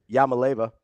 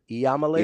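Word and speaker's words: Iamaleava: I think you're missing a whole syllable. Is it Iamalaeva? Yeah, it starts with an I. I don't know how you just jump to L's. I'm not. Yama. Huh. Like Yamo be there.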